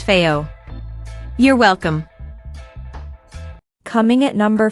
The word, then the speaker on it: FiiO: Also, it's pronounced Fiio.